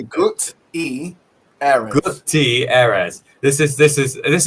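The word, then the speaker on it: Guterres: G uh how do I say his name properly without making it get Gutierrez. G I can't say that. Say good ezi.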